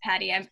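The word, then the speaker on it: PADI: just got their uh i think it's pronounced patty i'm not certified to scuba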